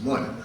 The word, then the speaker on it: mun: M-U-N, well, that would be mun, not mun, it rhymes with sun and bun and so on.